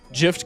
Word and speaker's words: GIF: Gift card dog. It's pronounced gif graphics interchange format.